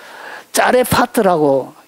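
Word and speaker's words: צרפת: 짜레파트라고 읽는데 이것은 어디에서 나온 단어냐면 6884에서 유래가 되어진 단어예요.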